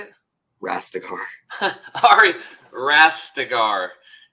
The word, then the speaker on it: Rastegar: Rastegar.